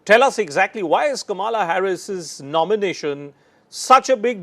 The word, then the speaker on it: Kamala: My name is pronounced as Kamala Harris, not Kamala Harris. It's Kamala Harris. That's the claim which is being made by Kamala Harris.